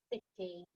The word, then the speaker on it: city: start with us it starts with but we pronounce it city the capital city of england capital letter because